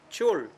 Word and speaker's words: 귤: 귤, Chul. 귤. Chul. 왜 이분은 줄 발음이 나지?